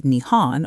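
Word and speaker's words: 日本: The Japanese call their country Nihon which literally means origin of the sun. In Japanese you read it as Nihon or Nepon but the Chinese pronunciation sounded more like Jun.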